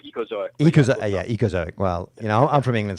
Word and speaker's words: Ecozoic: It's called Ecozoic.